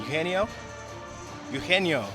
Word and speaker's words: Eugenio: Eugenio. The G is silent.